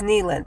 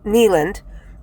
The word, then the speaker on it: Kneeland: in 1839 Abner Kneeland his name is Kneeland like a knee and k-n-e-e Kneeland a pantheist started no